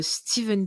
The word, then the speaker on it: Stephen: Alors, il y en a qui disent qu'il faut dire en fait Stephen King, alors que ça s'écrit Stéphane. Stephen King.